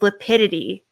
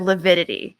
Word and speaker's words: lividity: Another thing John Pryor kept saying during one of his cross-examinations was lapidity instead of lividity, which he's been pronouncing things wrong.